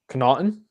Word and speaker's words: Connaughton: I can never pronounce his name. Connaughton?